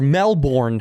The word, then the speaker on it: Melbourne: there we shot in Melbourne uh or Melbourne As Americans say it and uh Cena Efron